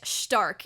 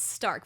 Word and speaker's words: Stark: to or I guess Stark is how you say it. I'm like I'm I'm so used to pronouncing it Stark, but it's Stark. There's like a shh sound to it.